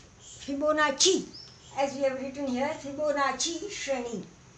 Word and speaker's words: Fibonacci: this fibonacci sequence now this is double c is cha fibonacci as we have written